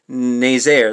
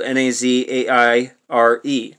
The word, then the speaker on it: Nazaire: raid on the french dry dock of saint naysayer that's spelled n-a-z-a-i-r-e the raid on the french dry dock of